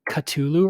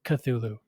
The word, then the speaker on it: Cthulhu: I've been pronouncing it Cthulhu some people pronounce it katulu or katulu Lovecraft himself pronounced it something along the lines of Cthulhu I'm probably not doing